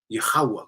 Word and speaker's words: Yahweh: These Amalekites came in so that no one could actually pronounce the proper name Yahweh correctly.